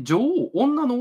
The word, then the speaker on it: 女王: の女王これね女王って女王って読むらしいですね女王ではない女王らしいですけど女王でも